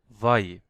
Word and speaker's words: wie: তাহলে আমরা এটাকে বলতাম ভাই, ভাই। ঠিক আছে, এখন যেহেতু আই আগে আসছে ই পরে, তাহলে আমরা এটাকে দীর্ঘ ইর মতো উচ্চারণ করবো ভি।